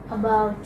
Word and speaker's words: about: And About. about, okay. Again the stress will come on the second syllable.